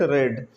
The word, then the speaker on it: read: read past form read, we will pronounce it read.